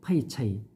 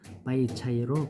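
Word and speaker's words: 白菜: 중국에서 배추는 한문으로 백채, 흰백, 채소채, 백채라고 쓰고 파이차이 또는 바이차이로 발음합니다.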